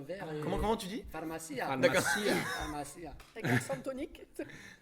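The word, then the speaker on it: farmacia: Pharmacia. Pharmacia. Pharmacia. Avec l'accent tonique.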